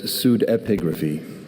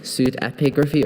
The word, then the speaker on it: pseudepigraphy: There's pseudepigraphy. Pseudepigraphy or pseudepigraphy? There's pseudepigraphy and pseudepigraphy.